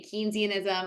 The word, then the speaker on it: Keynesianism: how you say it that's one of the ways you know he was British so there I think I think in Britain they say keynesianism I think in the US we say keynesianism it's fine it's all